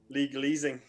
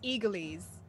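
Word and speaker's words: église: out because for your legal easing which is actually so we said it wrong it's eglise all right so we have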